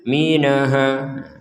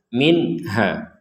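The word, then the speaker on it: منها: Jadi jangan dibaca minha. Jangan juga dibaca dengung minha. Jadi dibacanya harus jelas. Minha.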